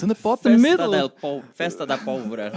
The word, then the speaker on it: Festa da Pólvora: How do you pronounce the? It's in the bottom middle. Festa da Pólvora. Festa da Pólvora.